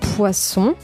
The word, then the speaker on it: poisson: Hay poisson, que es un pescado que se come, que es muy bueno.